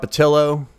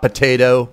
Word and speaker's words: Potylo: My name is Potylo. Not potato or padildo.